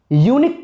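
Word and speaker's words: unique: यूनिक यूनिक बोलने के लिए आपको य बोलना पड़ रहा है, यूनिक य से यूनिक होता है जी, यूनिक य से।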